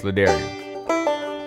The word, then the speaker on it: La'Darrion: good with the daring it rhymes with barbarian librarian grummarian i'm good with any